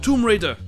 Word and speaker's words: Tomb Raider: Z: When Core, the creators of the video game Tomb Raider, (it's pronounced "toom rayder" by the way) when they created this character, they had just been bought by the British game studio Eidos.